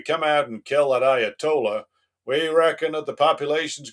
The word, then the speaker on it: Ayatollah: President, if we come out and kill that Ayatala, sorry, I need to pronounce it correctly. Mr. President, if we come out and kill that Ayatollah, we reckon that the population's going to rise